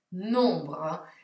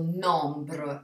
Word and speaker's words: nombre: Nombro. Vedete che io non ho detto nombre, ma nombro. La M si sente poco e niente e l'ho pronunciata un po' come se avessi raffreddore.